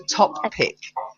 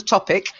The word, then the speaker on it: top pick: next one is the top pick not the topic the top pick the top people you've got to sort of say top make sure you get the perp at the end and then pick otherwise it sounds like the topic yeah well good next